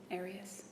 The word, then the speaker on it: Arias: I say Arias, as does the rest of my family.